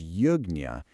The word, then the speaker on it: Yajña: Now, Yajña, pronounced Yajña, it actually started as a literal fire ceremony where the community would make offerings together.